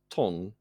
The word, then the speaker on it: 東: In fact, to is pronounced ton in the modern Wu language, or Shanghainese as it's more commonly known these days.